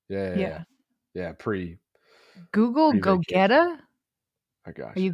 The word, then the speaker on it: Gogeta: Uh, oh, by the way, Liv Liv is like, you got to pronounce it the same way. So, it's Gogeta.